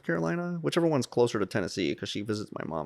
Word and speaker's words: Tennessee: Tennessee, as they call it. Tennessee. It rhymes with Hennessy.